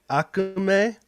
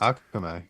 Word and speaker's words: Akume: It's Akume. Akume. That's how it would be pronounced. Akume.